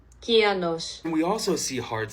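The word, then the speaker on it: κυανός: with a kappa, and according to Google Translate, it's pronounced more like this. Kianos.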